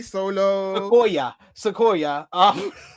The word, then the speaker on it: Solo Sikoa: Solo Sikoa.